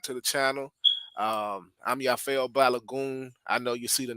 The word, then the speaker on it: Yafeuh Balogun: like share subscribe to the channel um I'm yafo balagon I know you see the name like how do you pronounce that it's yafo balagon that's how you pronounce it of the balagon